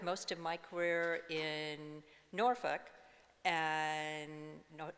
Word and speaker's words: Norfolk: And I worked most of my career in Norfolk, and notice how I say that word, okay? Everybody has different pronunciations of that name. Norfolk.